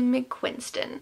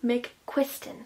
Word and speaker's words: McQuiston: is red white and royal blue by casey mcquinston mcquiston i always say her name wrong um so this one everyone and their